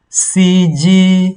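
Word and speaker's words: 司机: CG. You see, CG. It's like a beep of the car.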